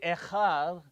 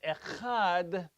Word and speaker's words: echad: with your pronunciation because if i say echar with a resh instead of echad i'm saying another one rather than echad one therefore if i say